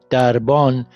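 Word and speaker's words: دربان: Darban. Darban means guardian. We have this, which is pronounced.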